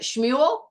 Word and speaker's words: Shmuel: right awesome all right shmuel yeah okay all right so we put the emphasis on the end smel yeah okay all